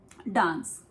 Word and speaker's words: dance: और एक वर्ड होता है डांस जिसको हम इंडिया में डांस बोलते हैं. डांस एक इंग्लिश वर्ड है और हम इंडिया में कुछ इस तरह से बोलते हैं डांस. But in America, we say it like dance.